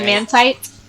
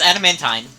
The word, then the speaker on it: adamantine: a mantine had a man tight no it's adamantine not tight good tight yeah it's